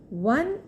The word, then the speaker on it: one: One is spelled as ONE. O is a vowel. However, it is pronounced as one, that is WON, as if it starts with W.